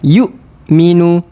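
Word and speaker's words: يُؤْمِنُوا: Jangan kita lepaskan. Nanti kalau kita lepas dia akan jadi y. Yuk. Ha tahan. Yukminu. Yukminu. Ha tu cara sebutan ataupun cara bacaan yang tepat dan sempurna.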